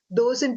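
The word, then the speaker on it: doce: as figs and viping dos in Portuguese means sweet pronounced dosi and fig is fruit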